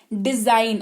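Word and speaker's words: design: है डिजाइन क्या है डिजाइन और ये जे जो सुने दे रहा है ना वो एस और आई वाला के हिसाब से है ठीक है तो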